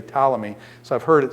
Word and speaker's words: Ptolemy: scholar and dave says potala me potala me he pronounces the P I do it more like pneumonia where than the P goes silent so I'd say Ptolemy so I've heard it